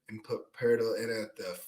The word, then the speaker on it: Poeltl: Poeltl, you're right, yeah.